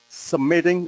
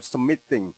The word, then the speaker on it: submitting: how do you pronounce submitting a document or submitting a document? So, Americans are almost always going to go with the flat T. Submitting. But we do go submitting. Submitting. Not submitting.